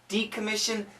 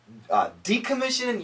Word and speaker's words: decommission: Decommission. Decommission, yes. We have to say decommission. The accent goes here. Decommission.